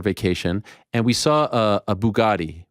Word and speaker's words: Bugatti: My son, we were in Florida for a vacation, and we saw a Bugatti, right? That's how you pronounce it. I don't know anything about cars. Okay, Bugatti, yeah.